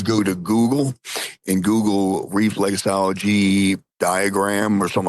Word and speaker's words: reflexology: Am I saying it right? Flexology, right? Well, for the fee, it's reflexology. Reflexology. Okay, reflexology. He wants to know what's